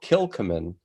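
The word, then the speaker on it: Kilchoman: anyone interested in this was actually one called kilcomin which is spelled k-i-l-c-h-o-m-a-n and uh yeah uh we were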